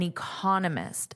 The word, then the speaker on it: economist: Notice there's a different syllable stress, which is why I wanted to share that. I added that here for you in the lesson PDF. And also, I underlined the syllable stress. Now, remember, it's the vowel that you will hear the longest and loudest.